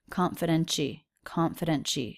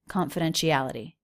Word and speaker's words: confidentiality: Confidentiality. So we have two T's here. One of them is pronounced as a CH, and one of them is pronounced as a D, or a flap T. Confidentiality.